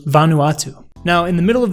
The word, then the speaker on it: Vanuatu: of these two options is Van Vanuatu I butchered that Vanuatu Vanuatu now in the middle of these two op